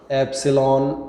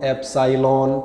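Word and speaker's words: epsilon: एप्सिलॉन, बिल्कुल सही अभिषेक, ये कहलाता है एप्सिलॉन, एप्साइलॉन। ठीक है, थोड़ा बहुत प्रोनाउंसिएशन में एक आध लोग इधर उधर कर सकते हैं, बट है यही, है ना।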